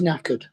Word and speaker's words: knackered: There's another word with a silent K. What is it? Knackered. Oh. Oh, yeah. Sounds like or knock or whatever. Knock on the door.